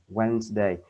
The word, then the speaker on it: Wednesday: thì có bạn thấy người ta bỏ chữ chữ B đi phỏng ạ người ta không đọc d e a Wednesday và nó cũng không